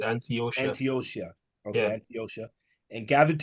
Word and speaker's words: Antiochia: Sorry, Antiochia. That's how they say that. I remember that. That's how they say it. Antiochia.